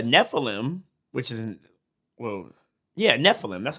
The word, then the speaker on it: Nephilim: Like, I know it's a Nephilim, which is, well, yeah, Nephilim.